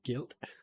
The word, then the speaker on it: Gylt: This will be first one I'll talk about is Guilt. It's spelled GYLT, all capitals.